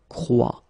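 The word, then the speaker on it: croient: And phonetically here, as we saw, ent is not pronounced, so you get the sound croit.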